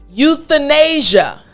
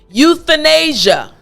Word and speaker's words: euthanasia: you need to remember put your tongue through your teeth the good again the excellent now the entire word after me euthanasia excellent last time euthanasia great job so now